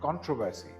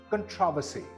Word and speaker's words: controversy: Another word that people misstress a lot is this one. I have heard many people pronounce this word as controversy, but it is not controversy, it's controversy.